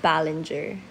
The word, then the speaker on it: Balinger: How to pronounce my surname? Oh my god, thank you. Um, it's called Ballenger.